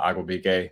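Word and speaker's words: Igwebuike: Parker has um Godwin not even gonna try to say his last name uh I will be gay I think is how you say it uh I kind of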